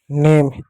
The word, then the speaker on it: name: जैसे NAME, एन को क्या पढ़ेंगे? नौ पढ़ेंगे। ए को क्या? ए की मात्रा पढ़ेंगे। एम को क्या? म पढ़ेंगे। हो गया नेम। ई क्या? ई साइलेंट होगा।